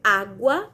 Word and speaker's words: água: exemplo da palavra água quando eu digo água eu escuto o som do g e o som do então na